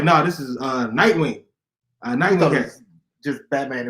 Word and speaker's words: Nightwing: And then he kept saying his name wrong. He's like, Nightman, something else. I'm like, brother, Nightwing.